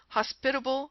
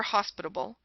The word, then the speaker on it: hospitable: to pass unnoticed but she mispronounced many words herself hospitable for hospitable intense for intense Etc the errors consisted chiefly in changing the accented syllable in the word mination